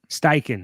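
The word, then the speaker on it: Steichen: they have that consistency that styan has though styen is how you say it wait am I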